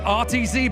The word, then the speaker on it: RTZ: Ignite School, please welcome Reichkes Bolts. I really hope I've said that right because this one is all about phonetics. Ah, I did say it wrong. It's RTZ Bolts.